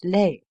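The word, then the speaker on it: les: the father the mother the plural for both genders is lay as leper the fathers the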